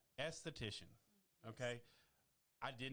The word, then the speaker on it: esthetician: So, and I'm going to pronounce it correctly because she said I had it right. Esthetician.